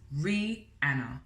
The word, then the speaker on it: Rhianna: hello my name is rhianna and that is pronounced re anna phonetically the reason why i'm